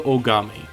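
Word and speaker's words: Ohgami: Much like how Mondo's last name, Aada, was spelled with an O at the beginning in the anime, uh, Sakura is is the same way. It's spelled O H G A M I.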